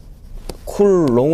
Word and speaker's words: 쿨롱: 다니는 다음 뭐 어 c 로 써 놓고 바로 뭘로 발음한다 그랬어요 쿨롱 으로 발음한다 그랬죠 군요